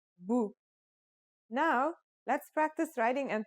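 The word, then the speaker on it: بُ: as B and finally here's the dhamma it changes the pronunciation to boo now let's practice writing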